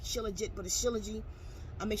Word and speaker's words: shilajit: uh taking trilogy um it spells like at s-h-i-l-j-i-t El it's spelled like shilajit but a syllogy I'll